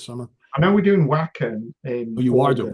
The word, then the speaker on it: Wacken: I know we're doing Wacken Oh, in you are doing August. Wacken.